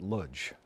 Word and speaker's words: Lodz: both, they were from Lutz, I think. I think it's, I don't know Polish, but they used to pronounce it Ludz, okay. L-O-D-Z in the anglicized version.